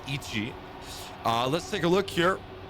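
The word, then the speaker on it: いち: to be very slow, almost like the number 1 in Japanese, which is pronounced Ichi.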